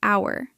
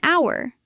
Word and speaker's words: hour: Notice the word hour. It begins with the letter H, but the H is silent. So, the word sounds like it begins with a vowel. That is why we say an hour, not a hour.